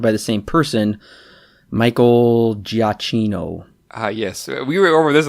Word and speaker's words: Giacchino: Giacchino is how you pronounce it.